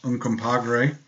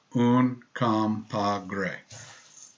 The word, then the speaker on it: Uncompahgre: We've made 2 new blends, Medano Creek and Uncompahgre. Again, we chose easy to say things because it kind of fits the profile. And I just like to watch other people struggle to say it. So Uncompahgre.